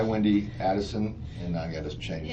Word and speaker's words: Adelson: Okay, I, Wendi Adelson, and I gotta change It's this. Adelson. I know, I gotta change that. It's okay. It's Adelson. Actually, it's spelled right. I said it wrong. Adelson.